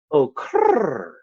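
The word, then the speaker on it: okurrt: you rr-rr-rr-rr T or okert but the way you actually pronounce it is as if a pigeon was saying it so it's more of like Evan Oh Kurt but the T is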